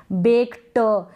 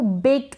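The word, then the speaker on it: baked: पूरा उच्चारण नहीं करेंगे आप ऐसे नहीं बोलेंगे बेक ट नहीं बेक्ड ट का बिल्कुल मामूली सा साउंड आना चाहिए वो आपके मुंह में ही रह जाता है वॉइसलेस होता है क्लियर है ये आपको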